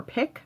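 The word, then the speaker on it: Piq: And I first found it in a store in New York City called Peak or Pick. I think it's pronounced Peak, P-I-Q.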